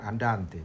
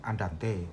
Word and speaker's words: andante: tapi tidak semestinya begitu andante juga demikian diucapkan andante Bukan andante andante ini saya penting untuk